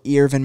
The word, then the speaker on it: Earvin: but the next one Irvin Magic Johnson which is spelled Earvin Magic Johnson I think